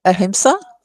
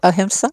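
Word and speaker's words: ahimsa: Um how does uh spirituality uh the concept of um uh sorry how to pronounce that word? Uh uh aimsa. Oh, aimsa.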